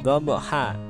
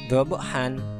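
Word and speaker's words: ضبحا: Kita membacanya wal 'adiyati dhabha. Di sini ada fathah tain. Kenapa kok bukan dhabhan? Nah, inilah yang namanya mad iwad.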